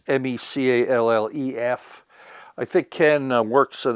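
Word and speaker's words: Micallef: Another gentleman I listen to is, I'll pronounce his name wrong, Ken McAuliffe, I think is pronounced his name. Ken, it's Mecallef.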